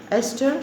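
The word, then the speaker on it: Estes: borrester the spelling b s o r s is silent here esther she was an american author date of birth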